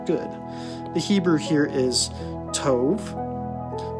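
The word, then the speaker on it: טוב: the Hebrew here is Tove which has a soft B and it's pronounced t o v so where we get the name Toby from for instance but Tove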